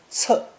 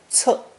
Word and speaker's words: 册: This collection of strips is pronounced fourth tone, 册, 册, and means a book, record, or register.